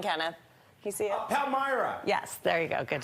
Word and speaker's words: Palmyra: Palmyra.